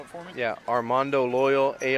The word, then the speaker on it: Armando Loyal: if you just give me your name and spell it for me yeah Armando loyal a r m a n d o l